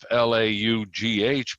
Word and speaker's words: laugh: So, we we spell laugh l a u g h because it used to be pronounced lauch. But now it's laugh.